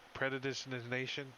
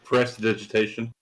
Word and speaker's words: prestidigitation: The predigitation. Yeah, how do you say it? Somebody say it good. Prestidigitation. There you go.